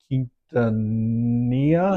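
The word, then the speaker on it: Quintanilla: to learn about the history of uh Selena Kintania.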